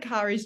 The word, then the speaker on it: Cari: But my name is Cari. I always say it rhymes with safari because nobody can say it.